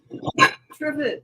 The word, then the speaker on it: trivet: Trivet rhymes with privet.